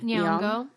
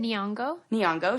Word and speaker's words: Nyong'o: Nyong'o. How do you say it? Nyong'o.